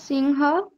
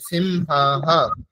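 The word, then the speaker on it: সিংহঃ: হবে কহ বরাহ কহ সিংহ কা নদী সিংহ নয় সিংহা বিসর্গের উচ্চারণ তো হ এর মতই হবে তাই না সিংহা বলুন আরেকবার পুরোটা বলুন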